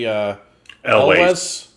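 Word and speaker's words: Elwes: Carrie Elways. Elways. Okay. I was actually thinking this earlier. I've only ever heard it pronounced as Elways, as in Ways.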